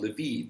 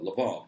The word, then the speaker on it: Lviv: And it has lost certain territories that historically were Polish, specifically the city of Lviv, or Lvov, depending on how you want to pronounce it, in the area of western Ukraine known as Galicia.